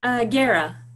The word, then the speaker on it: Guerra: Guerra. Guerra. Yeah. Beautiful. Okay. The U is silent.